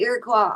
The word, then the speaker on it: Iroquois: And it's actually pronounced Iroquois. Oh, really? OIS sounds like qua. And actually it was a Canadian woman that taught me that. And she was about the Cree, because the Iroquois are the Cree, the